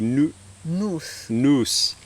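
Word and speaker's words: νοῦς: i thought it was kind of closer to the greek but as rg corrected me the correct greek would be noos and when we were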